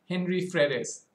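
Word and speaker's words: Henry Frères: the moon is called what i would pronounce as henry fredes it's a french word to say henry brothers prosper and paul henry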